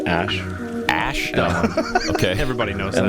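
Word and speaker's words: Æ: and then and then the AE is like pronounced Ash Ash okay everybody knows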